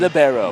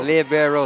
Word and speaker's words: libero: it's libero. Libero, librarian. Librarian.